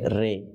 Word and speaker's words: ر: সহকারে শ্রবণ করুন যে এই র উচ্চারণ করতে গিয়ে কোন ভুলটা আমরা করে থাকি র এর জায়গায় আমরা কি পড়ে ফেলি রে রে পড়ে থাকি ঠিক আছে ইনশাআল্লাহ তাহলে রে উচ্চারণটা হচ্ছে ভুল আর যেটা সঠিক উচ্চারণ সেটা হচ্ছে কি র তাহলে ওই রটাকেও কয়